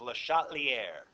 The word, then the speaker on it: Le Chatelier: His name is Le Chatelier. Yeah. Le Chatelier, actually. Yeah. Le Chatelier. French. Le Chatelier. See, I even said Got I that could say it right. silent R at the end.